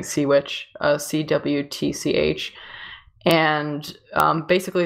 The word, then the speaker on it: Cwtch: I think it's a Welsh word, so it's pronounced differently, but I've just been saying SeaWitch, CWTCH.